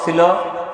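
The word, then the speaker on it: ث: বা উপরে যদি তিনটা নুক্তা থাকে তার নাম ছা সবাই বলেন ছা সবাই বলেন ছা আবার বলেন মাশাল্লাহ ছায়ের উচ্চারণ কেমন হবে একজন বলতে পারবেন আপনি বলেন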